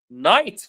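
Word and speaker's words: knight: Wednesday, the D is silent. Night, very good.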